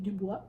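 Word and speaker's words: Du Bois: The Souls of Black Folk by uh W.E.B DuBois and uh yes that's how you pronounce that whoops so this is a non-fiction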